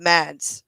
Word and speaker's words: Mads: I can tell you how to pronounce it because Zod No. won't be able to. But Mads, yeah, Mads Milk is.